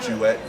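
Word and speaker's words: Juiette: to explain it is think of a duet like the two people saying so with the j sound so that's how you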